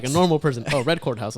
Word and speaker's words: RedCordHouse: Oh, RedCordHouse.